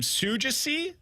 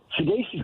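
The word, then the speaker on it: Saggese: It's Thomas, and I'm going to try to pronounce this last name, Sugasi? Sugasi? Sugasi is, I believe, how it's pronounced.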